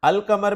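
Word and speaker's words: القمر: अल कमर में अल के लाम को प्रोनाउंस किया जा रहा है जबकि अशम्स में अल के लाम को प्रोनाउंस नहीं किया जा रहा।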